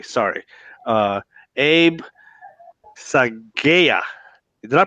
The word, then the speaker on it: Saghieh: or enrolled agent I should say sorry Abe psy gaya did I pronounce that right you got it right yeah